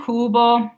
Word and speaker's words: cubo: And cubo, we have that C followed by a U, making it that hard K.